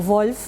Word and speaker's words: Wolff: Mi papá fue Federico Wolf, o Wolf, si lo pronunciamos en alemán, y sí, fue un